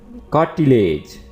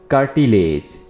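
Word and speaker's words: cartilage: drum कान का पर्दा कार्टिलेज कार्टिलेज इसको आप कर्टी नहीं पढ़ेंगे कर्टी नहीं पढ़ना है आर को आपने थोड़ा सा टच करना है और पढ़ेंगे आप कार्टिलेज कार्टिलेज कुरकुरी हड्डी या नरम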